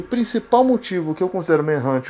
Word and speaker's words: Manhunt: Só deixando claro, a pronúncia correta do jogo é Manhunt. Mas talvez você, assim como eu, pode ter ouvido em algum momento pessoas chamando de Manhunt. Mas a pronúncia correta é Manhunt, então por bom senso